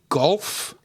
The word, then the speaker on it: Galuf: Do you pronounce the man's name Golf? Galuf is Golf? Yeah, Golf. Galuf, Golf.